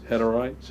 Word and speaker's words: Hutterites: The Hutterites, is that how you pronounce it?